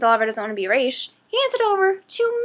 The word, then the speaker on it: Ra's: Ra's al Ghul, and he's still pronouncing it as Roz and not Raish, even though all the League characters Miseo, Raish himself, Nisa, keep calling him Raish.